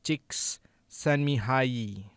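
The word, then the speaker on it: Csikszentmihalyi: it dr mihali mihaly it's pronounced chicks send me hye if you like to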